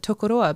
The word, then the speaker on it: Tokoroa: parkia Pacific island um they now pronounce it tokoroa because we as a